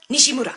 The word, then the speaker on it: Nishimura: Like, I pronounce it the way my family has pronounced it my whole life, so it's Nishimura. But, like, anytime I get introduced at cons, it's always like, and Trina Nishimura.